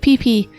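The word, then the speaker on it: Pipi: check it out it's called the legend of pee-pee and uh it's just about a scruggly cast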